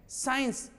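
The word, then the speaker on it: science: जी नहीं, सी को साइलेंट करके आप एस से बोलेंगे।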